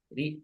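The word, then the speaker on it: じゃ: A-nya agak panjang. Oke. Boleh sekali lagi Minasang bacain ja ja ja ja gitu ya. A-nya dikasih tekan di akhir gitu ya.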